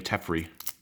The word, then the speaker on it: Teferi: I like when people pronounce his name Teferi. Like Jeffrey, but with a T.